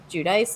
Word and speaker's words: Giudice: I could understand if someone had just been like, Giudice is actually how you say it in Italian, but like the Americanized version is Giudice.